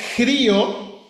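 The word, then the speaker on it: χρίω: El verbo, hermano, se pronuncia crío, de donde viene la palabra cristos.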